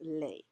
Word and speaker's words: les: masculine and feminine and this word is pronounced lay so that's why it's